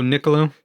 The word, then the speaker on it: Niccolo: I don't know how to pronounce his name. Oh, Niccolo? Yeah, Niccolo.